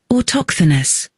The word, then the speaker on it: autochthonous: Let me first of all pronounce it. Autochthonous.